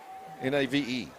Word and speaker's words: Nave: Toby, N-A-V-E. Nave. Nave? Nave. That's what I was going to say, Nave. There's no accent on the other side.